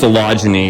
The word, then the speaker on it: Phalaenopsis: That's pronounced Phalaenopsis.